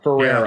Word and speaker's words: Ferreira: But yeah, it's a tongue twister, but pretty simple once you break it down into like 3 syllables. It's there. So Ferreira.